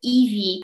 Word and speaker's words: iwi: Dlatego tutaj Aotearoa, Iwi, Haka słynna. Tutaj samogłoski są wymawiane dokładnie tak jak w naszym polskim alfabecie.